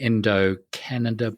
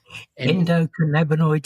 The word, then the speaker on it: endocannabinoid: scientifically based book about medical marijuana and the endocanada book. How do you say it? Endocanabonoid system.